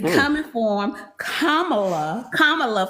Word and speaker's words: Kamala: Kamala, for those who don't know how to say it. Kind of reminds me of Karma.